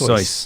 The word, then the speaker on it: Seuss: Although I will say that that he always he actually insisted that uh Seuss was pronounced Seuss. Seuss yeah Seuss yeah that's how it would be pronounced in German that's true.